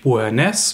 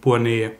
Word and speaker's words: Beauharnais: Der Nachname sowohl von Stéphanie als auch ihrer Tante Josephine ist nicht Beauharnais, wie ich gesagt habe, mit dem S betont am Ende, sondern Beauharnais.